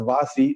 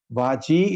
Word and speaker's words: vaji: c h vaji now some people pronounce it as vasi that is not right vaji is the correct pronunciation now the same person